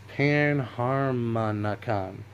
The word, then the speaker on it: Panharmonicon: Panharmonicon.